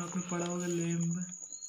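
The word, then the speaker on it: lambda: ये 11th में आपने पढ़ा होगा लैम्डा, इसमें बी साइलेंट रहता है इसलिए लैम्डा बोलते हैं, लैम्डा से रिप्रेजेंट किया जाता है, ठीक।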